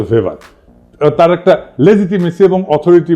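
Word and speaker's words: Weber: দার্শনিক আছে ম্যাক্স ভেভার এটা ওয়েবার বলে অনেকে এটা উচ্চারণ আসলে ভেভার তার একটা লেজিটিমেসি এবং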